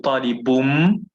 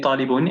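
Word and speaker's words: طالبٌ: طالب, it's طالبun with a ضمتين on the word طالبun, but obviously pronouncing it with tajweed changes it to talibum, you know, the law of tajweed. So talibum min al hindi. Some people say talibun anyway, but I prefer saying talibum min al hindi.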